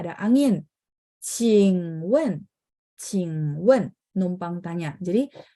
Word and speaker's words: 请问: Terus cing-nya itu Q, bacanya ada angin ya.